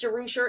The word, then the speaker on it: Jerusher: So it's the Aberstan, Jerusher is pronounced Jerusher.